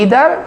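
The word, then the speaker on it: either: अकेला प्रोनाउन है, ईदर, और इसको अमेरिकन कहते हैं ईदर, ब्रिटिश आमतौर पर कहते हैं आइदर, लेकिन दोनों में ये प्रोनाउंसिएशन चलते हैं। ब्रिटिशर भी बोलते हैं, अमेरिकन भी बोलते हैं, आइदर और ईदर, नाइदर और नीदर।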